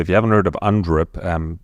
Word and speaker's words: UNDRIP: So if you haven't heard of UNDRIP, exactly as it's spelt, UN and then DRIP, D-R-I-P.